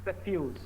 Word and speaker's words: suffuse: Okay, suffuse. That's how it's supposed to be pronounced.